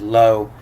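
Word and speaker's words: לא: this third line here this is uh this is lo la and is pronounced lo and this is the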